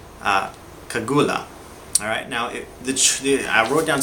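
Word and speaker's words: segullah: I believe it's pronounced kagula.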